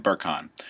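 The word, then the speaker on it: Berkhan: It's known as Lean Gains, and that is Martin, and last name is spelled B-E-R-K-H-A-N, Birkin.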